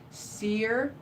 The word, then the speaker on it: Cyr: Donald says, CYR is pronounced Seer in Montreal, Quebec.